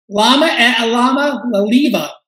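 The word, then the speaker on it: Iamaleava: Lama Alama Laliva is the way he pronounces it.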